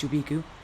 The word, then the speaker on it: Chubiku: how to pronounce that apparently it's chubiku like chewbacca and uh again if